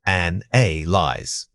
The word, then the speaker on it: analyze: Focus on the middle syllable stress. While spelling is sometimes debated, the pronunciation must be clear. The emphasis needs to fall firmly on the second syllable. An a lies. Don't let the initial vowel sound fade out. Make it audible and distinct.